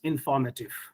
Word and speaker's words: informative: in the first one, we give stress on the syllable may, information. But in the second word, we are giving stress not on may, rather on for, informative. We don't say informative, like information.